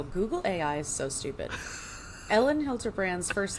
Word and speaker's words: Elin: Oh, it's pronounced Ellen. It says, "Yo, Google AI is so stupid." Ellen Hilterbrand's first name is pronounced Ellen, like Ellen Degenerous.